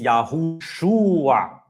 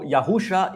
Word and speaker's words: Yahushua: And so, that vav produces the "oo" sound between the shin and the ayin. So, it is at the minimum, it is Yahushua. At the minimum, that second shua must be there because the letter vav appears between the shin and the ayin, all right? So, Yahusha is an impossible pronunciation of that name.